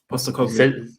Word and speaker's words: Postecoglou: Postecoglou.